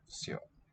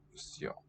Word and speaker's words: всё: An E that is pronounced yo. That's what the two dots tell us. Maybe a little out there. Всё. Все. Or we could do it more phonetically like that. Всё.